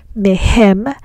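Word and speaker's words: מהם: Then we pronounce the prefix mem as me and not as me. That's why we say mehem and mehen.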